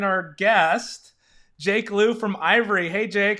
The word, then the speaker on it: Aivre: was talking about, and most of them were saying the name wrong. So I'm saying it right, right? Ivory? Correct. Yep.